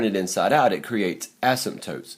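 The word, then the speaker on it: asymptote: here's our Asim toes Asmat toes you know what I just mispronounced that ASM tootes it's not as toes there's one ASM toote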